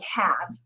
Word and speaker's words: have: like for another example like have it has the silent e at the end and typically when you have the silent e the e is supposed to make the vowel say its name but it's not have its half but i taught the